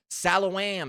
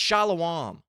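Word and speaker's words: shalom: Salawam. Salawam. It's shalawam.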